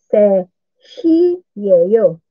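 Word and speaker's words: 세 시예요: So, ang T hindi yan ang pinapronounce na. Inuumit yung T. Sabi natin, se, shi, yeyo.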